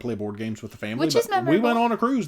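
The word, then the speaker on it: Faneuil: figure out how because some people told me it was Fanueil Hall and when somebody else said it was famil Hall like if you're from there it becomes family for now no no because I was going fan wheel I gave it the French pronunciation and they said Dada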